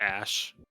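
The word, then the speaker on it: Æ: x i i yeah it's X and a e is pronounced Ash and then 12 or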